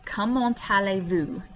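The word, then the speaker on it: comment allez-vous: again number 12 is come on tale vu this t right here connects to the a in the next word so you have come on tale come on tale and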